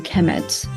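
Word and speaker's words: Kemet: uh it will be the noun will be pronounced a chemet so so so uh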